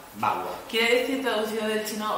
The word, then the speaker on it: Bagua: ¿Se pronuncia? Bagua. Bagua.